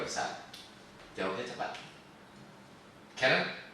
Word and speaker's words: Kharen: Jadi Karen tuh KHAREN, Karen, but oh, dibacanya Karen.